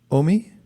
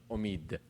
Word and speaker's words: Omid: Omi? Omid. Omid. Yes, with Okay. the at the end. It Okay, means Omid, ambition Omid. in Persian. What does it mean? Ambition. Ambition. Yeah. Spiritual ambition. Omid.